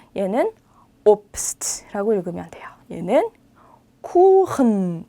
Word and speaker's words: Kuchen: 얘는 kuchen. 독일에 막 흐흐 하는 발음 많이 들어보셨을 것 같아요. 얘가 바로 그 주인공이에요.